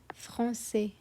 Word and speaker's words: français: And the same goes for français. If there wouldn't be the sédaille, we would pronounce it as franquet, franquet. But because there is a sédaille, we say français.